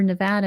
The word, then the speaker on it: Nevada: over the world but here in Nevada or Nevada is how they say it here I I keep having to remind myself it's Nevada not Nevada I'm used to Nevada um they found a